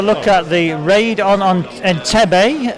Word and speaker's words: Entebbe: Okay, right, let's have a look at the raid on Entebbe. Is that the way you pronounce it, Sean? Entebbe indeed, yes.